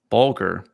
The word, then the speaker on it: Bulger: Bulger. Rhymes with vulgar.